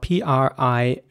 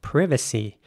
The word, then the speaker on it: privacy: is spelled p-r-i-v-a-c-y and in British English this word would be pronounced privacy in American English it would be privacy now some people I'm sure in the UK would say privacy and some people in America might even say privacy privacy privacy here's an